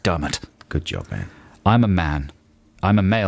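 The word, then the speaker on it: Diarmaid: on the internet nice and i know it's pronounced dermot good job man i'm a man i'm a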